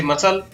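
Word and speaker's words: muscle: Next है, शब्द के अंत में SCLE हो तो सी का उच्चारण नहीं होता है, जैसे मसल।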